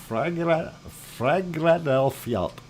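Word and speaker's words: Fagradalsfjall: Anyway, on the screen, you see Ragnar, and that is in Geldingadarler, and this is for Tetra, and it's a Fragradelfjalt, is how you say that.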